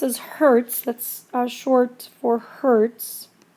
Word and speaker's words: hertz: Or you can write it as capital H lowerase Z and that's pronounced as Hertz.